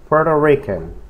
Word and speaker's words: Puerto Rican: La pronunciación de Puerto Rican, la palabra puerto, se dice puerto, puerto, ¿ok? Es como si nomás tuviera, elimine por ejemplo la letra T y diga puerto, Puerto Rican, ¿ok?